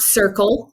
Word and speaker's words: Serpell: it and it's not circle with a c it's Circle rhymes with purple you know it's a